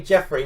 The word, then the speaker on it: Geoffrey: No, that's supposed to be Jeffrey."